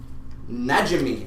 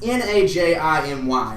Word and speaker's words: Najimy: man it is Kathy najimi I think that's a word I think that's the way you pronounce it n a j i m y nimy Najimy I don't know but